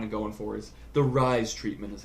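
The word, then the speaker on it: Ryze: what they're kind of going for, is the Rise treatment is how they pronounce it.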